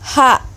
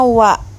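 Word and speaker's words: は: Kalau kalian cari di daftar huruf hiragana, maka dia berbunyi ha. Kalau dia berada di dalam satu kata, maka dia tetap dibaca ha. Namun kalau menjadi partikel seperti ini, sendirian, berdiri sendiri, maka dia dibacanya wa.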